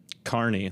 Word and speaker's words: Kearney: Stephen Watts Kearney, did I pronounce that correctly? - Kearney, like he was in the circus.